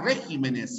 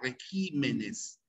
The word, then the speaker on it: regímenes: palabra esdrújula cierto régimen pero cuando se pluraliza la tilde cambia de posición el plural de régimen no será regímenes sino se cambia regímenes y se y sigue manteniéndose como esdrújula ya regímenes bien y esto tiene